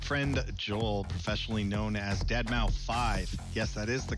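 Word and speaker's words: deadmau5: This is your good friend Joel, professionally known as DeadMau 5. Yes, that is the correct way to pronounce it.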